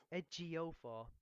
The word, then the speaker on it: Ejiofor: It's not that hard. Ejiofor. Once you get the J, it's easy.